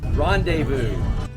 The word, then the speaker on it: rendezvous: 店。Rendezvous，这词怎么读啊？Rendezvous。